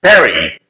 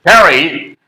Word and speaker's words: Paris: name of this place Perry yes they do not pronounce following the French linguistic rules in French in fact the last letter is not pronounced by the French people or those who know